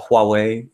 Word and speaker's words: Huawei: The H is actually pronounced, or W. So, or apparently in the West, we apparently say it the wrong way, or at least I don't know. I've met a bunch of people from Huawei, and they don't pronounce the H.